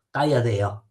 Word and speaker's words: tagliadella: Tagliadea. Tagliadea, no? Tagliadea, si scrive con il lungo in mezzo e poi con la L barata sul si scrive tagliadella, e sapete cosa significa?